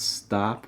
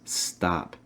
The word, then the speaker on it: stop: stop it stop it key thing especially for the american english accent will be making sure to pronounce stop within ah sound ass really open your mouth wide it's not stop it's stop stop stop it stop